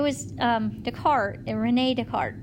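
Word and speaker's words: Descartes: the cart and Renae decart that's how you say it's a French guy so it's decart right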